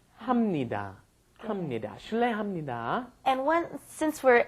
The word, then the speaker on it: 합니다: It looks like you should be saying 합니다, but that's, once again, I'm having trouble pronouncing it. 합니다. So you end up saying 합니다.